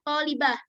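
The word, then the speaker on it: طالبة: Kayak misalkan tolibatun, kan biasanya kita keluar pelafalannya, pengucapannya tolibah. Nah, itu penulisannya menggunakan huruf ta marbuthah.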